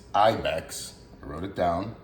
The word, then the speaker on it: Ibyx: a small company actually I didn't know how to pronounce the name of the company so I called this number uh it's Ibex I wrote it down